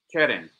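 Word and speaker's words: קרן: Queren. Queren. All right. Some people pronounce the letter Kuf as a C. So, if we were to take the letter C, it would be like this. Keren.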